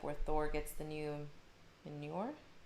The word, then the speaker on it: Mjolnir: Paul Loco said maybe Loki somehow shows up where Thor gets the new Mjolnir? How do you pronounce it?